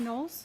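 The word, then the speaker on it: Knowles: My name is Nolles. My last name is spelled K N O W L E S.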